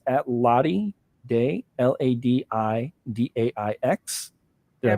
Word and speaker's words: ladidaix: So it's at Ladi Day, LADIDAIX. Did I pronounce that right?